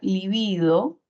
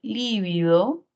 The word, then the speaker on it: lívido: tilde se dan cuenta la palabra livido sería grave y como termina en vocal según la regla general no le corresponde tilde por el contrario la palabra lívido sería una palabra esdrújula